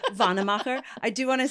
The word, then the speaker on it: Wannemacher: So It's pronounced Wannemacher. Wannemacher.